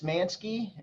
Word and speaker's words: Manske: if you just Google my name uh mansky last name is spelled m ansk ke you'll see manky